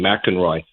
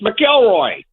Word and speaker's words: McIlroy: Jim Nance, you know, mispronounced his last name. Mackenroy. I said, "There's no N. There's no N in his name." Wait, Nance mispron I totally missed that. Did you guys catch that? Did not. He called him Roy. Yeah, he called him Mackenroy. And I said, "It's Melroy."